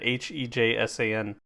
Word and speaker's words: Hejsan: Hejsan. Hey son. Hey, son? Okay, so J's are Y's.